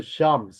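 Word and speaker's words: Psalms: 여러분들 시편은 영어로 발음하면은 P하고 L이 금이에요. 그래서 샴 샴 샴 해 가지고 원래는 이거 라틴어 성경의 이름을 따온 거예요.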